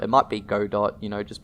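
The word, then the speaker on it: Godot: want to pronounce it I personally pronounce it gdau cuz I I heard that was how it's pronounced but it might be God dot you know just pronounce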